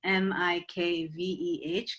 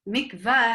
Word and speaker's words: mikveh: mikveh with an E, M-I-K-V-E-H, because that's, in Hebrew, that's mikveh, like a mikveh mayim. Mikvah, how a lot of people spell it in English in America, is not really correct.